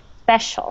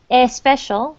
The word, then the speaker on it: special: so for Spanish speak these words that begin SP can be very difficult because they don't start with E so it's special working on that is uh is tricky special no e special no e not a special but special special okay um I invite